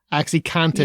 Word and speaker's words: OxyContin: crisis oxycontin yeah seriously i cannot be the only person who thought it was cotton like the fabric most people say it like that so yeah they do but i was like oh it's content makes sense but anyway it's it's